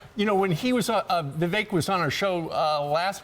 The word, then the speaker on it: Vivek: You know, when he was Vivek was on our show last week before, and he did a little rapping. He said, you know, my name's Vivek. It rhymes with cake, so maybe that's his nickname.